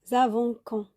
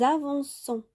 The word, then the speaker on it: avançons: Sinon, on va prononcer nous avons quand. D'accord? Parce que le O devant le C, ça se prononce K. Nous avançons.